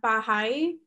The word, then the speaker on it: Baha'i: say it wrong, but the Baha'i, B-A-H-A apostrophe, I'm saying that right, Dr. Cray? Yeah, okay, so because they are perceived as a heretical offshoot of Islam. So just by being Baha'i, they are heretical, which